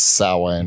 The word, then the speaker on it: Samhain: So let's already get into it with the fucking name of the band, because So traditionally, or normally, I guess, it's pronounced Samhain.